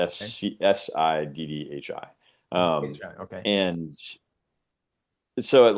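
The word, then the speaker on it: siddhi: It's spelled si di. City. Yeah. City. Accomplishment or power. Yes. Si dhi.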